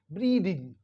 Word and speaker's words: breathing: ब्रीदिंग क्या पढ़ेंगे ब्रीदिंग यानी ये जो ई है ई होगा लॉन्ग ई होगा और टी एच का साउंड होगा द द यानी जब हम इसको प्रोनाउंस करते हैं द को तो हमारी जो वोकल कॉर्ड होती है वाइब्रेट होती है ब्रीदिंग